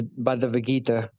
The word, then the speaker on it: Bhagavad Gita: The pronunciation is Bhagavad Gita, but you did a great job.